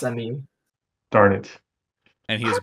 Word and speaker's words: Emil: Is that how you pronounce his name? Because I always call him Emil. Emil. Yeah, it's Emil.